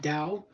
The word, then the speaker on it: Tao: about the da it's Tao but it's pronounced Dao if you have never listen